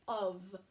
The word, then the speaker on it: of: all okay this one if you were sounding it out um the way it's spelled you would think it said ah ah but it doesn't it says of so in this word of the app kind of makes a V sound okay so today we're